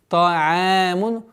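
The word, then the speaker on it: طعام: Например, та'амун. Нет. Та'амун. Та'амун. Та'амун. Ударение в размере двух огласовок.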